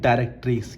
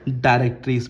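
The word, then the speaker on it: directrix: Line बोलते हैं उसको हम लोग कहते हैं डायरेक्टिक्स। क्या कहते हैं बच्चों? बोलिए डायरेक्टिक्स बोलते हैं बच्चों। ठीक है? डायरेक्टिक्स की spelling D आई आर ई सी टी आर आई एक्स।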